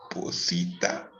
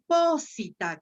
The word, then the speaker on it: posita: Y lo mismo va a pasar con posita, que estuvo muy bien leído. Si tuviera el macrón sobre la I, cosa que no tiene, si hubiera sido posita. Entonces, el acento, como no está, la marca de larga no está en la sílaba sí, se recorre una sílaba antes. Posita.